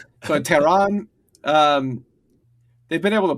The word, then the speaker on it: Tehran: to like plaster Tehran, I got to stop pronouncing the khs in that like it's an Arabic word, because it's not, and I don't actually know how to pronounce it in Persian.